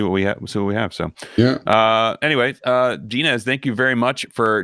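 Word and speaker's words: Denez: So Dinez is not Dinez? Wait, it's Dinez? Yeah. It's Dinez, like D-E-N-E-Z.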